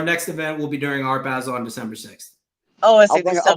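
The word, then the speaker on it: Art Basel: Miami uh our next event will be during Art Basil on December 6th. Oh, I'll bring a banana with duct tape. Yeah, we can make $5 million. Is it Art Basil or I Basil? It's our Basil.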